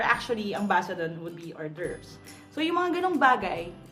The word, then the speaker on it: hors d'oeuvres: time pronouncing that now whom Baba said Messiah phonetically you would read it as oars the ovaries we're actually ambassador and would be hors d'oeuvres so you monkey dong bag I again would